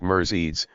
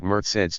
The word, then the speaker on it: Mercedes: gleaming gators and looked very impressive in the Mercedes. Alfred was always correcting us when we were talking about the car. or it's not pronounced merideds, but Mertz says dot that's how real automobile connoisseurs say it.